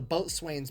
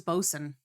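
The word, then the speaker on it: boatswain: I I thought it was Bosen. I thought it was Bosen, not Boat Swain. It's spelled Boat Swain, but I don't Or is that like a British thing?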